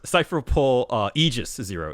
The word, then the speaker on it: Cypher Pole Aegis 0: This is a Cypher Pole Aegis 0 is how that's the pronunciation they're using here.